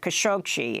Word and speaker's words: Khashoggi: officials it has audio and video evidence that Khashoggi in English Jamel khashoggi as how it's pronounced here in the US was killed inside